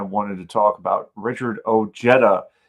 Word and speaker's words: Ojeda: to talk about Richard Ojeda. Yes, I pronounced your name right. It's Ojeda.